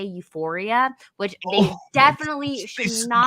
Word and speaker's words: Euphoria: are the funny thing is that they can't even pronounce it right. They meant to say Euphoria, which they Oh, definitely should they said not be that.